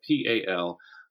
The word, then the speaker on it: palimpsest: And Palimpsest, for all the trouble people have saying it and writing it down, it literally is exactly as it sounds and pronounced exactly as it's spelled. Palimpsest, Palimpsest.